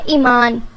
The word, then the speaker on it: ایمان: نام ہے ایمان، ایمان کے معنی ہے فیتھ، یعنی آپ کا ایمان، اور اس کے سپیلنگ ہے EIMAN.